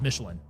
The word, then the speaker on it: Michelin: It's also less French pronounced. It's literally the tire company, so we're saying it's just Michelin.